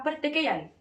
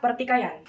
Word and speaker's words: pertikaian: Pelafalan diftong ai dilafalkan dengan mengucapkan vokal i yang kemudian diganti dengan vokal e. Tetapi, pelafalan diftong yang benar adalah ai. Saat menyebutkan diftong ai, vokal yang terlibat harus diucapkan dengan artikulasi yang jelas, sebagai a yang diikuti oleh i tanpa jeda.